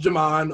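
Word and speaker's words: Ghiman: my real name is jamon because a lot of people don't know how to pronounce it because it's spelled g-h-i-m-a-n but it's pronounced jamon um but you can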